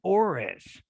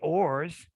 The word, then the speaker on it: ores: my esl students and they saw this word and guess what they said oris they didn't say ors as in metals and oars they said aures so they put that additional syllable at the end because they do they